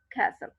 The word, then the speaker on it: castle: And then some words that is I found it's wrongly pronounced, conquer, conquer, okay. And here settle and castle, settle, castle, settle, castle, b silent है और t silent है।